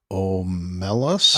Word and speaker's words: Omelas: Omelas? I've heard it pronounced Omelas.